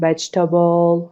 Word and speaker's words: vegetable: ببین ما نمیگیم different برای اینکه E is a vowel after the stress syllable. ببین میگیم که vegetable، نمیگیم vegetable because there is a vowel after the stress syllable. پس یادت باشه هر جا there is a vowel after the stress syllable that vowel should be silent.